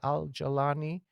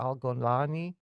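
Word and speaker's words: Jolani: And that's why Al-Jalani or Al-Golani, Golani is the Egyptian pronunciation, Jalani is the rest of the Arab world.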